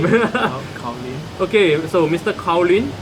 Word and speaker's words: Kyaw Lwin: How you pronounce that name? Kyaw Lwin.